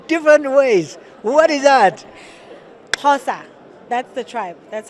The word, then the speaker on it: Xhosa: Xhosa, that's the tribe. That's how you pronounce it.